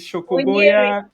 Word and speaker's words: Munyiri: young Chris in I don't know how you pronounce this. Is it Munyiri.